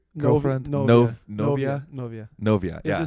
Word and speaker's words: novia: Novia.